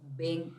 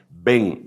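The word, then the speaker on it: בן: a quién le llaman ven es una palabra en hebreo que quiere decir hijos en masculino ve grande e n así se pronuncia porque ellos no tienen b grande como la nuestra ven Elohim hijos de Dios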